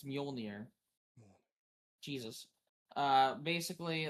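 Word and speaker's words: Mjölnir: You're saying it wrong, by the way. The Manure. It's Muolnir.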